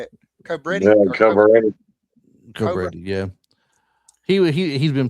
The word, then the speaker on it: Cobretti: Cobretti.